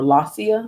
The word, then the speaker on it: Lasea: beware of laciana or la cia la cia is is how you pronounce her name la cia 75 the